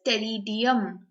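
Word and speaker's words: Pteridium: और जब पॉलीसाइक्लिक की बात करें तो पॉलीसाइक्लिक के अंदर जो एग्जाम्पल है वो सिर्फ एक है, दैट इज टेरिडियम, पी यहाँ पर भी साइलेंट है, ओके, पॉलीसाइक्लिक टेरिडियम।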